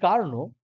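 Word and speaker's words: Carnot: তোমার বলে আসছি কার্নো বিজ্ঞানী কার্নো কার্নট বাংলায় উচ্চারণ হচ্ছে মানে এর নাম হচ্ছে কার্নো বিজ্ঞানী কার্নো একটা পদ্ধতির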